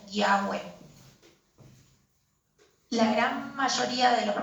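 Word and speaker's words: Yahweh: Aunque es incierta la verdadera pronunciación, es probablemente Yahé o Yahweé.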